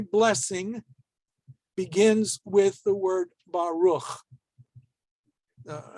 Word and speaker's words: Baruch: Since it's at the end of the word, and they don't want you to think there's another vowel missing, we have that shva there, which I told you before you weren't going to have, usually at the end of a word, but I lied. All right. But in any case, it's not pronounced.